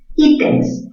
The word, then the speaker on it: ítems: Ítems, mayor fuerza en la sílaba I.